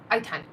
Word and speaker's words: Eitan: Eitan. That was it. Hi, I'm Eitan. Eitan. Okay. Hey, John. That's very cute. Eitan rhymes with, Raycon, and Hey John.